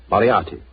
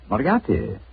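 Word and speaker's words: Moriarty: it or mispronounce it I'm afraid I'll have to begin calling it the way it looks m o r i a r t y mariati mariati I shall remember that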